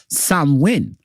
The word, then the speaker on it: Samhain: tradition in modern times Sam Heng a guy a Gaelic word pronounced Sam win is usually celebrated from